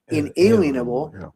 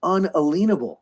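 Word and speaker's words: unalienable: We've been pronouncing it inalienable, but it's unalenable.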